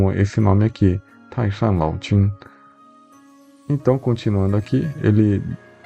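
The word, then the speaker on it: 清: Eh, muitas pessoas chamam de dinastia king, tá? Mas é em chinês a gente pronuncia como tinha, então eu vou falar dinastia.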